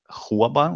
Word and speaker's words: Huaban: uh spell it but it's U how to pronounce it but it's huaban like h u a b a n and